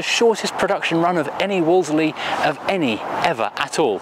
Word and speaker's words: Wolseley: it is spelled wooler silly but you don't pronounce it wooler silly just say Wolseley and if I'm saying Woolsey too quickly for